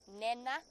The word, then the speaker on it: Nhenha: So Nhenha, Nhenha. And if you're, it's pronounced basically Nhenha, but the H just slightly aspirates it, so it's not quite. But it's halfway between Nhenha and Nhenha.